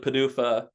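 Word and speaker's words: PDUFA: Um so, Padur pronounced like Padufa comes from the FDA. It does sound kind of ridiculous, but then you start saying it multiple times and it's actually kind of enjoyable.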